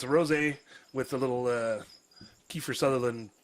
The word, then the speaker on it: rosé: well, today we have a little something called rosé. I know, you gotta say it like that. You gotta say it fancy like that.